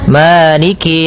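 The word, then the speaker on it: مَالِكِ: jangan seakan-akan diputus misalnya maliki yaum, maliki yaum. Jadi kemudian kasrahnya juga disempurnakan. Jangan sampai dibaca dengan e, tapi dia i.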